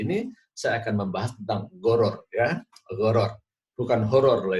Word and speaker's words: Gharar: Nah, pada kesempatan kali ini, saya akan membahas tentang goror. Ya, goror. Bukan horor loh ya. Tulisannya garar, tapi bacanya goror, pakai gin.